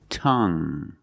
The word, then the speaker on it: tongue: have this word tongue the UE at the end is silent so we pronounce it like young tongue you have only the nasal sound there's no G it's just a sound tongue this my tongue tongue